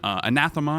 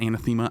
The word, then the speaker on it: anathema: trigger a socketed spell we're rocking anathema I think that's how you pronounce it not anathema anathema so that we have three